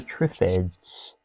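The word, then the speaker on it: Triffids: Okay, day of the tripffids. That's how you say it. Yes, day of the trips.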